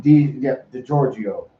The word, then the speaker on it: DiGiorgio: DiGiorgio.